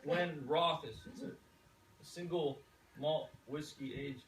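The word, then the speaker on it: Glenrothes: i never heard of glenn rosie pronounced glenn roth a single malt whiskey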